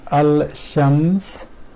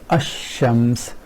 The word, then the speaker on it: الشمس: they do is here rather than saying al-shams this which is a bit hard on the tongue and they ignore that and pronounce this ashams which is much more fluent way of pronouncing this word so ignoring this